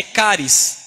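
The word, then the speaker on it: χάρις: Essa palavra graça no original, irmãos, é charis. Charis, que significa, a pronúncia nossa é caris.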